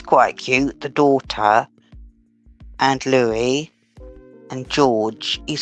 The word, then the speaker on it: Louis: George Charlotte Louie Louie Louie Louie Louis but it's not Louis it's Louie like the French one Louie.